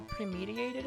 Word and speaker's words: premeditated: Med, like... That's not how premediated is pronounced? Med like red, not med like need?